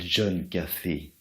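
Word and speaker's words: John Caffey: je m'appelle John Café, comme le café, sauf que ça... Oui, sauf que ça s'écrit pas pareil.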